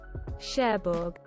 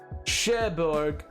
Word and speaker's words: Cherbourg: Pronounce. Cherbourg. Cherbourg.